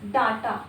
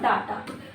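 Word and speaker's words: data: जैसे डाटा this is नॉट डाटा।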